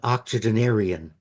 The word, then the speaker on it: octogenarian: I'm about to become an octogenarian. Did I pronounce that correctly?